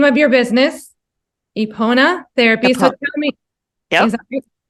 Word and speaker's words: Epona: So the name of your business, Epona Therapy. So tell me, Yep. is that right? Did I say it right? Epona Therapy Services, yes, and that is the Celtic goddess of horses and healing.